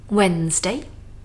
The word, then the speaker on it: Wednesday: Now the most difficult one of the week, Wednesday. Looks like Wednesday, but let's remove the D and the second E.